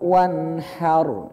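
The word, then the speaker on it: وَانْحَرْ: Contohnya fasholli li rabbika wanhar ya. Wanhar. Ini ro-nya sukun nih. Hukumnya tebal atau tipis? Tebal. Kenapa? Karena sebelumnya fathah. Maka bacanya tebal.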